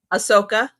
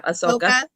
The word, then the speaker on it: Ahsoka: Ahsoka. Thank you. Yeah, Ahsoka.